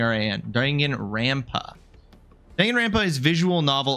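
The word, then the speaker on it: Danganronpa: Is it dangen rampa, not rampa? Ra. Yeah, everybody's been saying rn. Dangan rampa.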